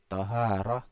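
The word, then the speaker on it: طهارة: Wa taharah bi fathi ta' dan taharah bi fathi ta' maksudnya dengan fathah ta, di huruf ta ini di fathah, bacanya kan taharah gitu ya.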